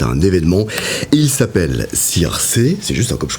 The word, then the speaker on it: Circé: Votre premier album est un événement et il s'appelle Circé. C'est juste comme je prononce.